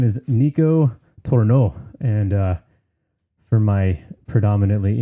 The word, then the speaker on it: Nico: I don't remember exactly when we first connected on the interwebs, but ever since then, I can pretty much count on Nico commenting, sending me a message, or all the above every time anything is posted or a new episode comes out.